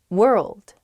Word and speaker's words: world: Ah, I see why this one's hard. World, world, hard to pronounce. That RLD, I think, together is tough. Plus that W at the beginning as well. It's such a short word, but you have to say so many weird things at the same time.